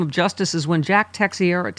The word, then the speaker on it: Teixeira: Julie says, a two-tiered system of justice is when Jack Teixeira, how do you say his name?